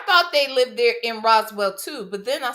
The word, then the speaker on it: Roswell: She knows it's pronounced Roswell. Why is she saying Roseell?